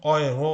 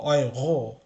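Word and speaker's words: Euro: ঠিক সেরকম এটা যেরকম ডয়েচ পড়ছি সেরকম এটা হচ্ছে অয়রো হবে বা অয়রো।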